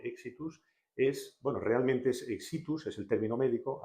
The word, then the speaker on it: Éxitus: es, bueno, realmente es exitus, es el término médico. Aquí, como palabra llana pronunciada, lo hemos puesto con tilde en la pronunciación. Sí, porque no lo lleva, además.